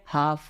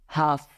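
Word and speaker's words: half: क्या होता है पाम उसी तरह एफ के पहले एफ के पहले क्या आ रहा है एल तो एल साइलेंट है तो क्या बोलेंगे हाफ हाफ उसी तरह रू नंबर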